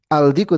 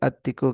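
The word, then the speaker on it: الديك: Samsiah dikut diku jadi addiku ya adiku misal gini ya. Bukan aldiku tapi addiku karena dia ee syamsiah.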